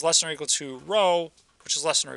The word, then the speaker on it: rho: In this case, the new Greek letter here is rho, right here, spelled R-H-O, pronounced R-O-W.